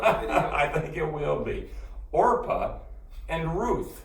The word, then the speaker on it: Orpah: say it for me orpah orpah orpa or not oprah that's not okra or orpah can you remember that orpah i think this is